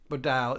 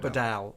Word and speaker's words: Bodell: Uh Bodell is pronounced Bod. Bodell. Bodel. What were we doing? Bodell. Bod. Bodell. Not Bedell. Bodel.